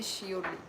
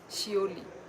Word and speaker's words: Seouli: अच्छा मतलब होता हो सकता है कि आपको प्रोनाउंस करना ना मतलब ना आए मेरा नाम है शली शली होता है किसी किसी को मतलब सच में